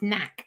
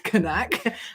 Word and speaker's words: Kanak: Yes, I can say Kanak deadlift, and people go, it's knack. No, it's not. Kanak actually said, please make sure people are saying Kanak as Kanak.